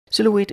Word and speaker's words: silhouette: word is silhou silhou silhouette is three syllables silhouette silhouette is noun